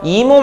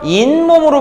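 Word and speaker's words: 잇몸: 자, 이것도 발음하세요. 이몸 아니죠? 인몸으로 발음되죠.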